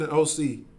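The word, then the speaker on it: Osee: as he saith in OC all right he says as he said OC which is spelled o-s-e-e in the scriptures that is talking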